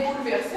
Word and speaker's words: bouleverser: commence en douceur bouleeverser on dit bien bouleverser on prononce pas le E mais il est toujours écrit et on a ici